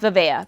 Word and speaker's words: Vivaia: you guys think, and some people pronounce it differently, but I'm going with Vivaia because that is what I have been saying and we're sticking true to my word.